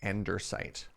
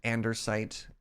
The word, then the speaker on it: andesite: very Charming accent and he pronounces andesite as endersight and so the a lot